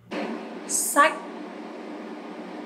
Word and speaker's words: sách: You have to go up and you have to pronounce very strong.